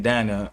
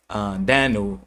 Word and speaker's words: Danu: know the Tuatha Dé Danann are those who were the who were underneath the goddess Danu or we can say Anu or Ann or Dana or Dana. Many different ways to say her name.